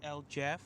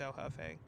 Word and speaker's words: El Jefe: No, that's actually pronounced El Jeff. Oh. No, I'm just kidding. No, it's El Jefe.